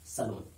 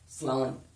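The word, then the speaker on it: salon: चलो सलून पे जाते हैं और अपने बाल कटवाते हैं, जबकि असल प्रोनाउंसिएशन, करेक्ट प्रोनाउंसिएशन है इसका सलान, सलान, नॉट सलून।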